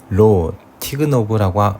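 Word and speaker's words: לא תגנב: 히브리어로 로 티그노브라고 읽는데요.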